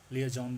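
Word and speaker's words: liaison: लियाइजॉन हमेशा इसको अगर आप ब्रिटिश इंग्लिश में बोले तो इसको लियाजॉन बोलते हैं, और अगर अमेरिकन में बोले तो लियाजान करके कुछ ऐसा बोला जाता है।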